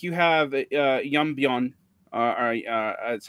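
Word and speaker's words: 연변: But today, like you have Yeonbyeon, that's how it's pronounced in Korean.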